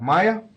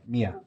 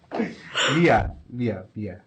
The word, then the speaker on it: Mia: I have Maya. My bad. Mia. Oh, you said my name wrong. Why did I say Maya? Mia.